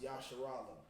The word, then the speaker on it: Israel: Okay, so and that's pronounced Yasharala.